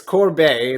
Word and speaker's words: Corbeil: It's Corbeil. It's it's a French name.